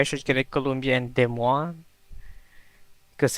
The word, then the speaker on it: Des Moines: Okay, so I'm thinking if I should get a Columbia and Des Moines because it's meat and beer.